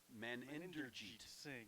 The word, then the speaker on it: Meninderjeet: He's got a lot of syllables in that first name. It's Meninderjeet Singh. And they were all saying, oh, we just call him Singh.